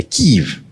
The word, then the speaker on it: Kiev: Que, aliás, deve pronunciar Kiev, não Kiev, como dizem os comunistas, os russos. É Kiev.